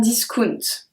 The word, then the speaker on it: discount: We have the exact same word in French and in English, but we do pronounce it a bit differently. So you say a discount. We say un discount.